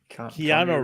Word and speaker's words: Keanu: Unless they go and Connor Reeves as Revan. Hold on, who's Connor Reeves? Keanu Reeves. Keanu. I always say his name wrong.